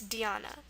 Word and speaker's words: Dhyana: So of course, if you have the Ya sound, it's just going to be YA, as we've seen here and here, so we have that in here too. So we have our YA, again our A for the A sound, and then this is a very normal ending, as you've seen already in the word sadhana. N is normal, and our A for the schwa at the end. So that's Dhyana.